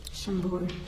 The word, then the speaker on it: Chambord: Chambord. Chambord.